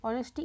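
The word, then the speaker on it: honesty: আর্টিকেলের উপর দেওয়া আছে আর্টিকেলের উপরে দেওয়া আছে অনেস্টি ইজ এখানে এইচ টা কিন্তু হ উচ্চারণ হচ্ছে অনেস্টি অ হিসেবে উচ্চারণ হচ্ছে এইচ টা কিন্তু এইচ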